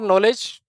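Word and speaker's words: knowledge: था हमारा के फॉर नॉलेज के के फॉर नॉलेज के फॉर कोलकाता के नॉलेज नॉलेज जो वर्ड होता है ना वो के से शुरू होता है के साइलेंट रहता है अंग्रेजों को किसी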